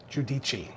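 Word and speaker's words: Giudice: Giudici.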